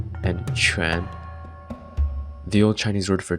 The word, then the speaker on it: 荈: Ancient Chinese had several terms for it, pronounced in modern standard Mandarin as tu, jia, shi, ming, and quan.